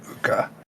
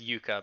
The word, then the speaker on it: Yuka: Casting dissonance whisper, so I will need a wisdom saving throw from Uka. That is Yuka, by the way, the pronunciation.